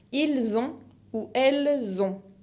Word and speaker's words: ils ont: Ils ont ou elles ont, con la T final que no se pronuncia.